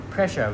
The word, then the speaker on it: pressure: But beware that this word here is pronounced pressure with an unvoiced sound, not the voiced one.